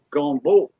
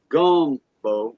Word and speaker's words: gombo: for okra yeah uh gombo gombo okay pronounced like that is french for ochre gombo not gum bow like a chewing gum it's gombo is french